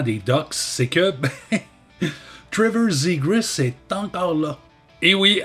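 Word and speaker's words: Zegras: au Canadien de Montréal zigrus est toujours un canard et ici la prononciation du a est très importante et honnêtement je peux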